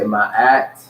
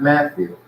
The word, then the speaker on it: Ma'at: So we say Ma'at who? Ma'at who? Ma'at who? Not Matthew. Ma'at who? Proper pronunciation according to the origin and not what they